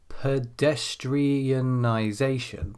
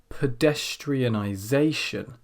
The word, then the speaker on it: pedestrianization: as you do this say the word pedestrianization pedestrianization now for every beat that appears and there should be seven of them this is a